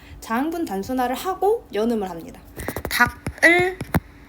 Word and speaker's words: 닭을: 닭을 단독으로 발음하면 기역으로 발음이 되죠. 이 상태에서 기역을 뒤로 넘기는 거예요, 연음해서. 그래서 다갈로 발음을 해주어야 합니다.